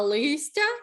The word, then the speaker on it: листя: листок перевірне листя якщо листок то наголос на О А листя наголос на и у корені слова чітко